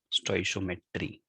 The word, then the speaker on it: stoichiometry: how to do them stoichiometry how do we pronounce it stoichiometry the topic is stoichiometric calculations so here we